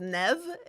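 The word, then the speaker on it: Niamh: And the same thing with Nev. There's no V in it. There is no V in Nev.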